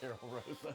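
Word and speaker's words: Karol Rosa: Oh, but how you actually pronounce her name? It's actually Carol Rosa.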